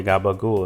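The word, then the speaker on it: capicola: Um like how some people, you know, say gabagul instead of capaci or mozzarell instead of mozzarella.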